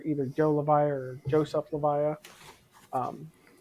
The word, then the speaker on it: Levija: what you're saying I'm like I've been saying Lisha and he had well Joe Joe levia I appreciate I appreciate you coming on here